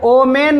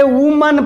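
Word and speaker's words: women: नहीं पढ़ना है इसे वूमन पढ़ना है इसे वमन नहीं पढ़ना है इसे वुमन पढ़ना है अब यहां पर देखिए डब्लू ओ एम ई एन इसे ओमन नहीं पढ़ना है विमन पढ़ना है इस तरह जो है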